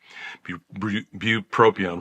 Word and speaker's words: bupropion: Bupropion. One of the problems with it is it's hard to say. Bupropion is the right way to say it.